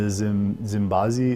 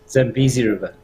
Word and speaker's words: Zambezi: a man after my own heart on the Zimbazi. Is that how do you say the river? Zambezi River.